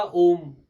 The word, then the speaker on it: ओम: सुबह उठ के हमेशा ओम का उच्चारण करना चाहिए आ ऊ और माँ तीनों को बराबर और बहुत आजकल सरल